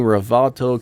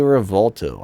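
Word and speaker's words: Revuelto: right so next up we have the Lamborghini rato coming in at number seven I think I pronounced that wrong as well because I can't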